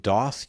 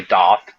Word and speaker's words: Doth: We've got um and I'm going to possibly mispronounce this, but Doth Shadow Portrait. Yeah. I mean, some people say Dot, but I say Doth.